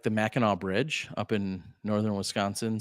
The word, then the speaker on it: Mackinac: very much appreciate it it's spelled Mackinac but pronounced Mackinaw Mac like the Mackinac Bridge up in northern